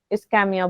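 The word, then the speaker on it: ischemia: Condition को हम myocardial इस्केमिया बोल देते हैं। इस्केमिया, इस्कीमिया, जो भी तुम्हारा मन करे तुम बोलो, लेकिन स्पेलिंग एकदम करेक्ट होना चाहिए, ठीक है?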